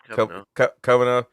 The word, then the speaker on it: Kavanagh: By the way, talking about referees, Chris Kavanagh. Is that how you say it? Yeah. Chris Kavanagh will be the referee for Newcastle Fulham at St.